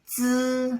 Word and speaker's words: zi: Then next row, ji, ji, qi, qi, xi, xi, zhi, zhi, chi, chi, shi, shi, zi, like buzzing, zi, ci, beatboxing, ci.